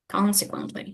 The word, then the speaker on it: consequently: Consequently. Yeah, the first syllable is stressed.